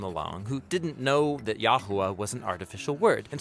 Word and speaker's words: Jehovah: an artificial hybrid word, which if you pronounced it, it would say Yahuwah, but no Israelite ever said Yahuwah. It's simply a visual reminder to say the word Adonai.